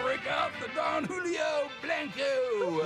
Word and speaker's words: Blanco: I want to break out the Don Julio Blanco. Blanco, Dad. Blanco. That's how you pronounce it.